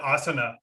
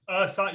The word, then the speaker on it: Asana: As a fellow yogi, I call it asana for 2 years, right? Before somebody clarified that, no, it's asana. You got the emphasis on the wrong syllable.